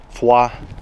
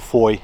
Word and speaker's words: Foy: is the location where the attack on FAA or Foy as the Americans pronounced it uh took off and